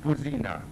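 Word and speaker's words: Puzyna: My name is Puzina. My name is Puzina, yes. Spell it.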